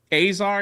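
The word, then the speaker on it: Casar: but in 2023 a brave man congressman Greg haar is how you say his name from Austin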